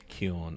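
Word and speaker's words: 気温: So we're going to put the hiragana here, and we're going to say kion.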